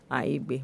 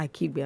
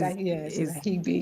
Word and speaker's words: Aigbe: It's Aigbe, not Akibe? It's Ahigbe. Aki. Is it? Ahigbe. The K is silent. Aigbe. Yes, so I got it. Yes. Okay, So so I think it's just there to confuse people.